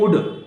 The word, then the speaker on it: would: ऐसे ही उड, WOULD, उड. एल नहीं बोला जाता है, उल्ड नहीं बोला जाता, उड.